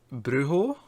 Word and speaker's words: brujo: There's a J, or a J, but yeah, no, Americans say J, we say J. But like most Mexican words or Spanish words with a J in them, they tend to become H's.